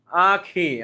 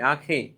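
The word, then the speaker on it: আঁখি: কিন্তু আখি তো আবার অন্য নামের উপর চন্দ্রবিন্দু দেয়, এখন কি বলতে হবে কি? আখি। নাকে উচ্চারণ করতে হবে, কি বলতে হবে? আখি, আখি।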